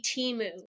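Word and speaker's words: Temu: watch the commercial to make sure you pronounce it right it will always be Teemu okay after seeing after seeing like the fifth timu commercial I was just like okay I get it all right we've been pronouncing it wrong the whole time please show another commercial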